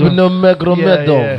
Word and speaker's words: Khabib Nurmagomedov: Tell me the pronunciation again, because I never get it right. Khabib Nurmagomedov.